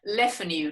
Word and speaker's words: LeFanu: your last name properly leffen you to rhyme with deafening you ah okay think about